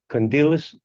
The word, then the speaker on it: Kondylis: Panagiotis Kondylis 519597. Now, pronounce the last name again.